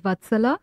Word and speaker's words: Vatsala: name correctly first short so vatsalya is the sanskrit root name sounds beautiful yes and that's how you pronounce it which is fine and my given name is vatsala that's my first name my